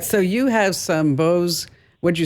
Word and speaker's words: Bose: Oh, that's not boys. You can never say it like that again. I'm going to embarrass yourself, Bruce. Okay, you ready? I'm sorry. It's Bose. Bows.